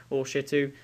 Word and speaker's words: Shitu: Next, we've got Shitu. Depending on how you want to pronounce it, but it doesn't have a H.